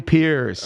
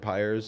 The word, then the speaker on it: Pires: wrong for so long it spelled funny and my whole life people have said pyre's so okay stopped correcting